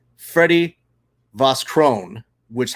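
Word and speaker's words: Vosgröne: It's pronounced Vosgro.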